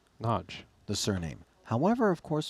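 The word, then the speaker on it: Nagy: and that is that n a y in Hungarian is pronounced nudge nudge the surname however of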